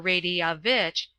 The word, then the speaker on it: Radovich: it is pronounced Seafia, talking with Radovich. or Radiavitch, as it should be sounded, the foreign secretary, on what the Sobrangi, it is pronounced Sufrangi, would be likely to do.